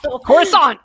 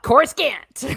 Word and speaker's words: Coruscant: and for a while coruscant was one of them coruscant core scant as we said yes all right he's wrong i like to chorus can't better yep so yeah so we